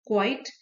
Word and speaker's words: quite: लेकिन जो क्वाइट है उसका फाइनल ई साइलेंट है, क्यू यू आई टी, क्वाइट.